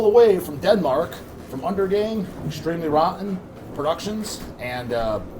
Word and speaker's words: Undergang: But being a Danish word, it is pronounced Undergang.